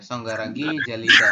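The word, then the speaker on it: 손가락이 잘리다: Son Son soniragi si ini dibacanya songarag jalida iya songgaragi jalida Mana nihah jawabannya ini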